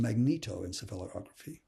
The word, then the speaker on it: magnetoencephalography: r then we have the magnetoencephalography it's actually pronounced magnetoencephalography it's a real mouthful usually Meg and it